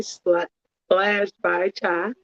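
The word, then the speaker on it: Splashed by Cha: I am here with the lovely Splash by Chai. That's pronounced that right? Yep, Splash by Cha.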